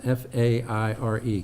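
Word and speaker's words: Faire: How do you pronounce F-A-I-R-E, Keith? Fair? Okay.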